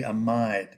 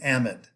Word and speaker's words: amide: Now you look at this word and you think, well, there's a silent E at the end of that should be amide because that makes the I long. Not if you're an organic chemist. We have unusual ways of pronouncing certain words, and this is one of them.